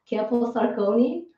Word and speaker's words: Camposarcone: and talk about sarah kemp sarcone by the way sarah am i pronouncing your name right is it sarah kepler sarcone yes sarah has been teaching